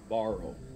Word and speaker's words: Barrow: how do you say your last name again borrow borrow got it like your shirt he told